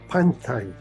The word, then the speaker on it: Punthai: It looks like Punthai, but it's actually pronounced Panthai.